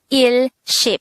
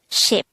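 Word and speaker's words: 십: one set of ten some people would be tempted to call it il ship so ill is one and ship is ten so that's one set of ten but as mentioned if the multiplier is just one then there's no need to mention it so instead of his ship we'll be saying ship so it's the same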